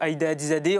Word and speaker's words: Ayda Hadizadeh: Merci beaucoup, Aïda Hadizadeh. On est désolé, là, le temps a fini. Bravo pour avoir prononcé correctement mon nom.